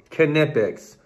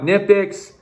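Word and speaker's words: Knipex: say knife look man this is a German product that's how they pronounce it that's what it's called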